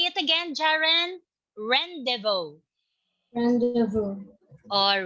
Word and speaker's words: rendezvous: two all right okay it is silent z and s rendezvous all right can you say it again jaren rendezvous all right very good